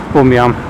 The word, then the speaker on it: Bunyan: John Bunyan, that's how you pronounce it.